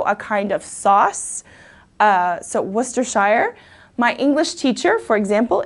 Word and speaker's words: Worcestershire: we don't use often in America but its Worcestershire okay Worcestershire so this is a country in western central England it's also a kind of sauce so Worcestershire my English teacher for example is from Worcestershire